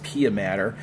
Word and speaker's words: pia mater: meninges called pia mater now this is spelled m-a-t-e-r but it's pia mater and it's actually adhesed